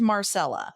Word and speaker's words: Marcella: This is, I promise you, it is Marcella.